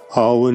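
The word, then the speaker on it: Awen: Alban is chanted as 3 syllables. A-U-Wen. Alban.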